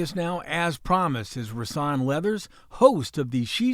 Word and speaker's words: Rasan: And it's Rasan. Rasan.